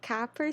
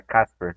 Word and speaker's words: Kasper: E agora, seguindo, a gente tem o Kapper Stuka. Eu pronunciei o nome dele certo? Não, é Casper. É Como se fosse Casper mesmo, Casper, né? né? O C tem som de S.